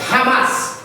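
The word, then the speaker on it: Hamas: rras sei pronunciar direito esse essa organização ramas é o se pronuncia ramas o ramaz ele vai ganhar as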